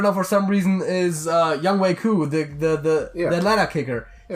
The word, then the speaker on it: Younghoe: I said it's spelled Younghoe, but it's actually Younghoe. The Falcons kicker. Yeah, exactly. Yeah. That guy. He told everyone that's how it's pronounced. Yes. His name is Younghoe.